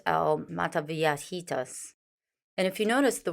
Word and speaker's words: Mataviejitas: the old lady killer as I try to pronounce earlier it's Al mataviatitas and if you notice the word l in